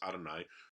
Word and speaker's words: Yahweh: So that word ani means I, and then we've got the divine name there, Yahweh, which we often pronounce Adonai.